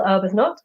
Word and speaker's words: Arbuthnott: Today we're joined by GIll Arbuthnott. Hi. Sorry, am I Hello, pronouncing your name?